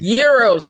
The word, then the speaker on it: gyro: Is it a euro or a gyro? It's euro, sir. Euro.